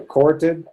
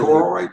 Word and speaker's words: choroid: In fact, the back of the eye is called the carotid. Dr. Carter, did I pronounce it right? Hey, what now? The vascular part of the eye, right under Choroid?